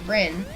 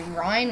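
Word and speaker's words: Ryn: or may not know, my name is Rin, and it's spelled R-Y-N instead of R-I-N. So, that means that some people get my name wrong and accidentally say Ryan, which sounds like Ryan.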